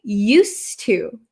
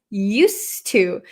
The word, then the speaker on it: used to: Used to. Used to. So this D kind of disappears because it's followed by a t.